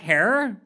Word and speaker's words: Herer: about we talking about jack hair rhymes with terror oh